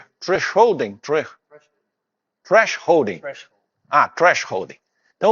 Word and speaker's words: thresholding: Ah, temos um americano aqui, temos um how to pronounce thresholding. Thresholding. Ah, thresholding.